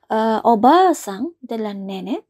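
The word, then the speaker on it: おばあさん: artinya adalah nenek ya tolong diperhatikan ya Kalau pengucapannya panjang ya obat artinya adalah nenek sedangkan Kalau pengucapannya pendek artinya adalah tante Bibi ya jadi obat artinya adalah suara kecil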